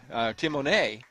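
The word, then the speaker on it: Tamone: time there and finally kicked Away by Timon Timone we should say is spelled t-a-m-o-n-e Ben 10 285 pounds sophomore from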